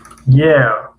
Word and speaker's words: year: year year year year. خب برای فهموندن ر با پراگی تلفظ میکنیم year year.